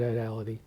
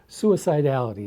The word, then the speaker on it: suicidality: health issues including suicide idality, I said that badly. Suicidal I I have I struggle with that word as you can see. Suicidality is the correct pronunciation.